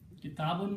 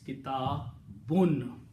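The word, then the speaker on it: كتاب: But the full word when it is created is kitabun. These 2 dhammas, pesh, have the sound of noon.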